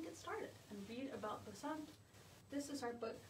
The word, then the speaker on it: Basant: going to get represented in this book about Basant. So let's say that word together. Basant. It's spelled like this.